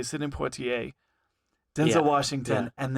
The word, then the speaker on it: Poitier: In this video, he was talking about how Sydney, I'm gonna say it wrong, Poitier. Uh huh. I grew up watching him in the heat of the night, right? Yeah. Sidney Poitier, like he prepared the way for Denzel Washington,